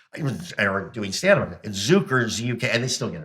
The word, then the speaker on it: Zuker: there's no I mean I pronounce it zuker so no one puts